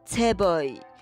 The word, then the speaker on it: 재벌: 韩国的财阀就念 Chaeboy，是不是跟这个中文好像有一点点像呢？